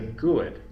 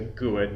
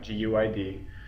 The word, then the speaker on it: GUID: At least when I've heard it, it's been pronounced out as a GUID, not G-U-I-D.